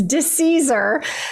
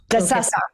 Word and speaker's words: DeCesare: It's DeCesare, and I said like the Caesar salad. That's right. I never. And the guy still. DeCesare.